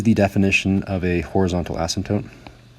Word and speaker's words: asymptote: As x goes to infinity, this is the definition of a horizontal asymptote. There's a silent P in there.